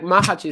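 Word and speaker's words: Macháč: but anyway yeah like mahaj is is probably mahaj is probably the correct pronunciation but Hest the I say mahaj too anyway um what what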